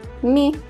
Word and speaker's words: mi: v sounds like v we is me sounds like the word me they is only and